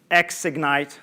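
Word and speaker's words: Xignite: i'm uh stephanie boy ceo and founder of ex ignite that's how we pronounce the name of the company now how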